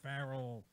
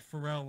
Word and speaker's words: Farrell: announced key Anthony innocence Shea Farrell not Pharrell like Paul Mike she said it the right way finally well Paul's been